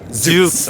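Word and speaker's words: Zoox: 처음에 죽스? 네, 죽스. 죽스라고 하나요? 발음이 역시 다르시네요. 아, 괜찮아요. 한국말로는 똑같죠? 죽스? 네. 영어로는 zus.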